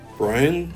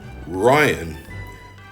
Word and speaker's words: Ryan: "Brian, sir?" No, Ryan." "Oh. You know, Brian does rhyme with Ryan."